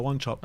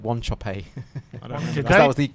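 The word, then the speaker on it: Wanchope: when uh you know remember one shop paolo one chopper oh yeah but then after a while like they made us pronounce it one choppy that was the correct pronunciation i don't remember brian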